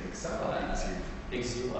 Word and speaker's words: Exil: Exil, I prefer Exil. I don't know, it's a Czech pronunciation.